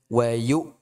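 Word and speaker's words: وَيُؤْتُوا: Nah, ini hamzah dia ditekan, ya. Maksudnya jangan sampai hamzah itu menjadi ikhtilas ataupun hilang, lebur. Ya. Jangan menjadi tasir. Jadi, bacanya wayu.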